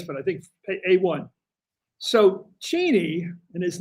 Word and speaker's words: Cheney: It's Cheni. He doesn't care, Cliff, that you mispronounce it.